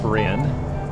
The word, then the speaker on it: Corinne: And we're direct Corin, or Corinne is actually the town and how they say it, but Corin on our next waypoint.